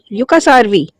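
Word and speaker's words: Jukkasjärvi: The river winds through ancient mountains and deep forests to the small village of Yukas Jarvi. Yucasarvi Jay is silent here.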